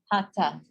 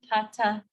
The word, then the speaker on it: hatha: Hatha, hatha yoga. You will hear people all the time say hatha, hatha yoga. That is not, it's incorrect.